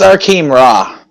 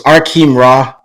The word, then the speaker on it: Arkheim Ra: that's still here let me just it's it's our Keem raw this is how you pronounce it hang on bro let me just